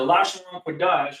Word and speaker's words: Lashawan Qadash: So the language of the Israelites is Hebrew, and particularly ancient Hebrew, or what is pronounced Lashawan Qadash, or what that translates to English, the holy tongue. Now, the Lashawan Qadash is the language that, again, just like y'all